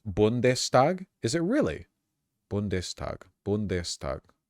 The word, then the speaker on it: Bundestag: The ST equals SHT is only in the beginning of the word. Oh. Bundestag, but if it was like the begin, it'd be like Stagenfreude.